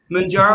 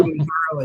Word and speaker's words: Mounjaro: Mounjaro or Mounjaro is both.